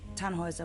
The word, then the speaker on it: Tannhäuser: Tannhauser. We'd pronounce it Tannhäuser with an umlaut.